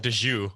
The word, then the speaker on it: Dagu: So, Escape from Dagu, or Dagu. I'm not quite sure how you pronounce it. Dagu. So this would be a Dagu. They call it Daju.